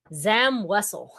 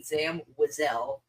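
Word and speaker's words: Zam Wesell: Zam Wessle. Yes, you're again this bit has been way overplayed because 95% of people pronounce it like you do and then there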